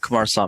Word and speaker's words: Kumarasamy: So today my guest is Brenden Kumarasamy. Am I pronouncing that correct? You got it, Kumarasamy.